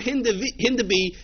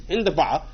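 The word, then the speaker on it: هندباء: Okay, but that word Hindabi is really an Arabic word. It's Hindaba, and that word means chicory.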